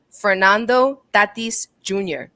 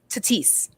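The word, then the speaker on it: Fernando Tatís Jr.: should make it priority to learn how to pronounce people's names joe buck kept saying so this is how you say his name fernando tatis jr he was saying tatis so far off i don't know why well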